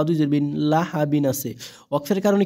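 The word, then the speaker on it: لهب: লাম জবর লাহা জবরহা বা দুই জের বিন লাহাবিন আছে ওয়াক্কফের কারণে কি হয়ে যাবে এ বার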